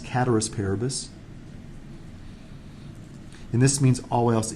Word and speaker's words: ceteris paribus: It looks like it's ceteris paribus, but it's actually pronounced cateris paribus.